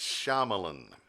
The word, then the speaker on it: Shyamalan: By the way, I know his right pronunciation of his last name now. It's Shyamalan.